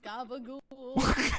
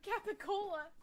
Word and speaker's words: capicola: Loves gabagool. Gabagool is not a real thing. It's a mispronunciation of Capicola.